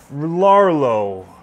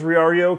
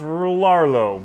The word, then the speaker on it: Rlaarlo: went to the website i thought it was reario because of the lower cases so i thought those were ice but they're not they're else so um i think it's pronounced larlo but i may be wrong anyway what they've got